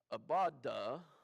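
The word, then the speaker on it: abodah: word is changed just a little bit to abaddah a-b-o-d-a-h that's how we would spell it let's talk about the priestly service and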